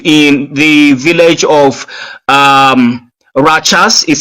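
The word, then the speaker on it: Rachas: October the 14th in the village of um Rajas is spelled R A C H A S located in the um Hipang uh district of Biladi County or local government in Nigeria.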